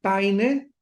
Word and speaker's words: Paine: barton Pain Pain se escribe p y n paine J barton Penny hay